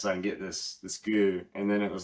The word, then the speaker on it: GU: The brand is called Goo, and it's like 100 calories of like sodium, magnesium, potassium, flavored stuff.